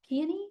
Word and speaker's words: peony: Peony. Peony. Peie. Peie. Thank you. I always put the accent on the wrong place.